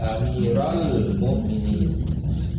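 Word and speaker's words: أميرَ المؤمنين: Terus harakat-harakatnya bacanya Amiral, ya Amiral Mukminin, karena ada munada di situ, ya, ada nida.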